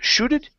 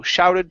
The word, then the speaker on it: shouted: Instead of shooted, it's ow, shouted Pavel.